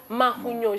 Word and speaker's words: Mahugnon: Mahunyo, je bien prononcer? Oui, vous avez bien prononcé. Mahunyo, ça veut dire quoi déjà, papa?